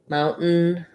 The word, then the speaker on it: mountain: So for both of those words, mountain, button, what I do there is a stopped T. So I don't leave it out.